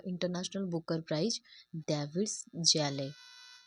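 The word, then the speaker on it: Szalay: David जैले। David जैले इस हमारा साइलेंट रहेगा।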